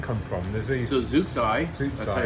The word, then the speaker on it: Zooxae: So Zooxae, that's Zooxae. how we pronounce it.